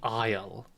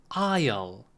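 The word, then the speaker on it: aisle: We would say the isle. Be careful with the pronunciation. We would say isle. Isle. Yeah. Similar to island. Island. But English spelling is annoying.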